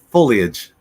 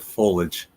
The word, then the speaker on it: foliage: Fall Foliage is beautiful but it's foliage I always always said foliage I mean it's clearly got it it clearly has the Leah in there and I I refuse to pronounce that part F foliage foliage this